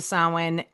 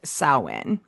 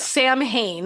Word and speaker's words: Samhain: the way you pronounce it does not sound like what it looks like at all."